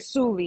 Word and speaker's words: Suli: Suli, yeah, like Suli. That's why on the Zoom I wrote it like how you pronounce it Yeah. because no one would get it. Yeah, Like.